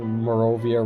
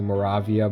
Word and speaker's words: Moravia: actually i just realized i've been pronouncing morovia wrong it's actually moravia but okay you get